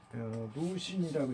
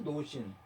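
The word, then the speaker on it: 鲁迅: 루신이라고 있습니다. 자, 루신이 있는데요. 이 루신이 로신이래요, 노신. 중국 발음에 루신이라고 그러는데요. 이 사람의 작품 중에서 공을기라는 작품이 있습니다.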